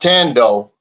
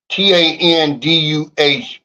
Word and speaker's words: Tando: It's pronounced Tando. Tanduh Beach.